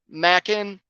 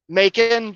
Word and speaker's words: Macon: was that that simple Mackin ER Macon Georgia I have to remember that now Macon it's like bacon making bacon Macon Georgia you know what